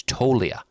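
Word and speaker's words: Toglia: I learned yesterday a loyal listener said the G is silent. It's Tolia.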